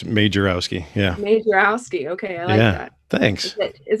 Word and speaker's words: Majerowski: name but it's like it's majorowski it's just how it looks it's made jarrowski yeah okay yeah thanks